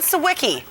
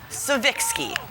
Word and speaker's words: Siwicki: name in years Jacqueline siwicki shall be henceforth known by her proper polish pronunciation Jacqueline Seiki we've been wrong all